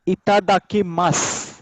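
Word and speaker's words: いただきます: हाँ प्रोनाउंसिएशन रहेगा इसका इतादाकी मास। सु का लिटिल स, इतादाकी मास।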